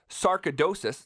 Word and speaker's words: sarcoidosis: cause that you and your mom are representing, sarcoidosis, did I say that right?